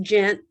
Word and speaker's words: Ghent: she knows they're all at 8am yeah it's pronounced gent but yeah it's pretty far down there um